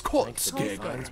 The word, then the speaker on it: Kolskegger: You're not saying it right, dude. It's Kolskegger.